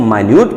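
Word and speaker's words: minute: अब मान लीजिए भाई, अगर मामूली के सेंस में ये मीनिंग, ये स्पेलिंग यूज की गई है तो इसको हम मिनट नहीं पढ़ेंगे, इसको माइन्यूट पढ़ेंगे।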